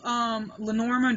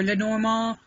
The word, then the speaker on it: Lenormand: I have that's Oracle's Lenormand or Lenormand, which I'm told is the correct pronunciation by Mr.